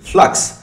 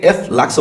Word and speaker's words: f.lux: এই সফটওয়্যারটির নাম কিন্তু ফ্লাক্স। এই ফ্লাক্স আমি বানানটা আমি আপনাদেরকে বলে দিই, F.LUX, এটাকে F-লাক্সও বলা যেতে পারে।